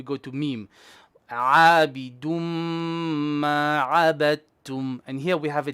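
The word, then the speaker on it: عَبَدْتُمْ: Abidum ma abadtum. And here we have a dal before a ta. When we have a dal before a ta, the dal goes silent.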